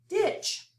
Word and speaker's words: ditch: Ditch. We have a digraph, don't hear the T, and a short I sound.